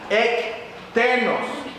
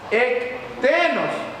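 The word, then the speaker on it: ἐκτενῶς: griega que significa o que se pronuncia más o menos así extenos externos e n o s sería la pronunciación más cercana extenos esta palabra habla de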